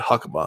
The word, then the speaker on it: Hakuba: He was like, first of all, he said Hakuba. I was like, okay, that's how you pronounce it.